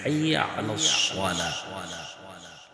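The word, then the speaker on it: حي على الصلاة: حي على লাস্টে হা, হা এর উচ্চারণটা অবশ্যই আপনাকে তাগিদ দিয়ে করতে হবে। যদি তাগিদ দিয়ে করেন তাহলে ইনশাআল্লাহ এটা সুন্দর হবে, তাগিদ দিয়ে না করলে এটা সুন্দর হবে না। হাইয়া আলাস সালাহ, সরি এরপরটা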